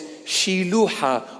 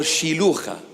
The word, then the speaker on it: Siloam: in the proper pronunciation, because it's a Hebrew, Aramaic, Syriac word. The English pronunciation is pretty close, but it's not very close. Siloam is not Siloam, it's Shiluha or Shilucha.